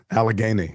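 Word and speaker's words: Allegheny: Alagany.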